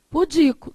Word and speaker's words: pudico: Pudico. Também é uma palavra como paroxítona. A sílaba mais forte é essa daqui, não é?